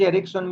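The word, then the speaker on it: رِکْسٌ: وضاحت کی ہاذا رکسن، لفظ رکسن میں را کے نیچے زیر اور کاف ساکن ہے، رکسن کہا جاتا ہے کہ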